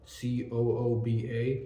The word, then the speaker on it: Kuba: And I do have a friend named Kuba, Cooba, like Gooba from the 6ix9ine song, but spelled with a C.